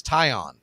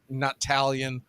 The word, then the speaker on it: Taillon: Yeah, even after hearing me say it correctly, it's James Taillon. So when you look at the name, the T-A-I, that's an I. And one thing, let me tell you, not Talion. It's not Scallions. It's Taillon.